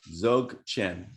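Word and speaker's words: Dzogchen: Zogchen. It starts with a D, but the D is silent.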